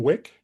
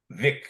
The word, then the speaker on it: Wick: Wick? Vic, that's spelled, well, it's pronounced Vic, but it's the famous physicist, 20th century physicist, WICK. Yeah. It's Vic.